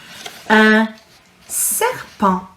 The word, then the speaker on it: un serpent: Now my next one is un serpent. The T is silent again.